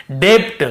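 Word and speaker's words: debt: के पहले बी है तो हम यहां पे बी को नहीं पढ़ेंगे मैन लीजिए नहीं होता तो हम कैसे पढ़ते डेट हम कैसे पढ़ते ऐसे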